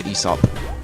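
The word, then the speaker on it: Aesop: taurus and hair thing that's an esop by the way i didn't know you pronounced this way i used to keep pronouncing it so i'm playing on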